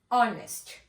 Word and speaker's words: honest: we are using an as we start the pronunciation with o honest honest man same over here for m a